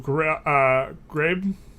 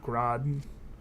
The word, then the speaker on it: Ghraib: We wanted to talk about the Abu Ghraib. I think it's Ghraib, not Grad. Isn't it? There's Ghraib. That's pronounced.